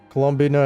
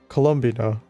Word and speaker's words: Colombina: what is the I thought it was Colombina. Colombina. So, I've been pronouncing it wrong. Colombia. You know, you know what I was pronouncing it as? Colombia. Am I wrong? All right. Colombina. Maybe it's pronounced both ways.